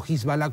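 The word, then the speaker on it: Hezbollah: contra lamia Fueron consumados por hisbol o jbala como se pronuncia correctamente que es la milicia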